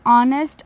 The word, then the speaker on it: honest: Now question number three, write any three words in which the letter H is silent. So the answer is honest, honor and hour.